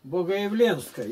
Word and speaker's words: Богоявленской: Богоявленской, Е, ударение.